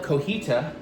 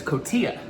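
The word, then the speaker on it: cotija: I recently found out I have been pronouncing a particular Mexican cheese wrong for a very long time. Surprised no one's tried to correct me. I keep wanting to call it cojita, but it's cotilla.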